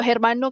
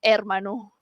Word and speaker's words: hermano: adalah Spanish tadi sebut Hermano kan kalau abang Ilham dengar mesti dia disappointed okey sebab dia adalah Ermano. Ya. Silent. Silent.